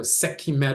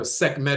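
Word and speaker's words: Sekhmet: Setchima is pronounced Setchimat or Setchimet or Sekhimet or Sekmet in ancient Kemet.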